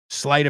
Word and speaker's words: sleight: Sleight of hand is like, ready? Here's the coin. The coin's gone. Wow. Sleight of hand.